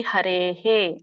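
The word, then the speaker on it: ಹರೇಃ: ಇದು ಎರಡನೇ ಚರಣ ಇದೆಯಲ್ಲ ಅಲ್ಲಿ ಹರೇಹೆ ರೇ ಹೇ ಇದೆಯಲ್ಲ ಎ ಸ್ವರ ಕೂಡಿದೆ ಹಾಗಾಗಿ ಅದರಿಂದ ಅಲ್ಲಿ ಬರುವಂತ ವಿಸರ್ಗ ಕೂಡ ಎ ಅಂತಾನೆ ಉಚ್ಚಾರಣೆ ಆಗುತ್ತೆ ಅದು ಹೇ ಅಂತ ಆಗಬೇಕು ಹರೇ ಹೇ ಹರೇಹ ಮತ್ತೆ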